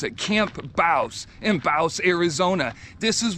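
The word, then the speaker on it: Camp Bouse: so let's see let's see if I can keep on track I have arrived at Camp Baus that's what the locals say that's how you pronounce it Camp Baus in Baus Arizona this is where General Patton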